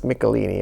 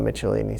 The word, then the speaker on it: Michelini: I guess I should have, but it's Michelini, okay, not Michelini.